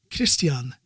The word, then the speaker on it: Christian: it said christian but he pronounced it christian just like they would here in scandinavia and it was like